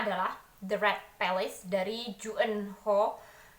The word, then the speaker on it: June Hur: The Red Palace dari Juen Ho. Juen Ho ini sebenarnya tulisannya Junehur cuman setelah aku lihat di apa ya biodata penulisnya ini kalau dalam hungle-nya itu ternyata bacanya adalah Jen Ho.